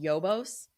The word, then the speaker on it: Yobos: It's called Yobos. So not Jobos and not Hobos. It's Yobos based. Yeah, you could confuse how it's said, but it's Yobos.